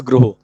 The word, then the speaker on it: गृह: देखो भाई, इसका जो सही प्रोनाउंसिएशन है वो होता है गृह। कैसे? ये जो ये वाली मात्रा है ना, ये ओ का साउंड देती है, आपको पता है? दिस इज गृह।